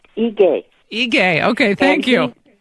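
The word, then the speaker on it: Ige: ahead yes governor um the governor of Hawaii's name is pronounced a gay he gay okay thank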